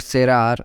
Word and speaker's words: cerrar: To close in English called cerrar in Spanish. Here E is something that makes C to pronounce like L C, therefore it is cerrar in Spanish.